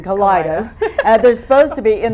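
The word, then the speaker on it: Kalidahs: But the Kaleidas, and no one really knows how you're supposed to pronounce it, but we're saying Kaleidas.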